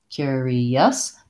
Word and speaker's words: curious: for this word um in both cases we have first syllable stress so the first syllable is long and then curious the second two syllables are shorter and reduced I would